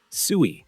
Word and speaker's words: Sui: Suie, pronounced SUI, is a layer 1 blockchain built from